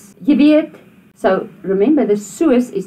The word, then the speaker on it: weet: En toe, soos, jy weet. So remember, the soos is not soos. You don't pronounce that double O as a oo.